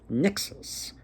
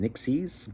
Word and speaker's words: nixes: spirits there are called nixes. Nixes, or sometimes they're pronounced nixies, but according to this one book, they're referred to as nixes.